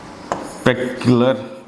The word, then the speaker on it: crepuscular: Third one, you call it as, right, crepuscular animal. Okay, crepuscular animal, or you can say crepuscular animal. This is 4 syllable word.